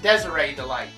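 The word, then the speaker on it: Desirée DeLite: characters actually the Delights uh Rhonda light and Desiree delight and yes that is how you pronounce that name I don't know if Desiree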